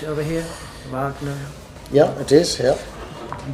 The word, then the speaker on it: Wagner: Pronounce it over here. Wagner.